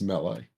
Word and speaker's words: melee: have actually secured a Miller Hub admin spot for ourselves so that's pretty cool should pronounced melee sorry what it's pronounced melee up